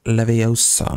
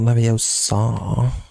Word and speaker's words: Leviosa: got to go alone when godiam leosa it's pronounced Leviosa not leosa send it all right Swish and flick where